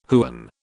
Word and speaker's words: Huen: information on the Blackboard code name Huen pronounced the same as hen level Overlord level three